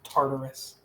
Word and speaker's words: Tartarus: It just says TR-TR space S. And is the character's name. It's pronounced Tartarus.